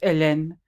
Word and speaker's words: Hélène: in French it's pronounced Hélène, but it's spelled Hellene. So, but it's so Hélène, but in French it would be pronounced Hélène. They don't pronounce the H in French.